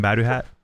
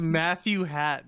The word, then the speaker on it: Matthew Hat: How do you say your name again? Maduhat? I'm not gonna go over this again. It's Matthew Hat, dude. It's Matthew Hat Okada. Sorry, forgive us.